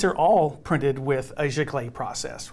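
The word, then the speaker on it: giclée: paper so these are all printed with a chiclet process right that's g-i-c-l-e-e with an accent on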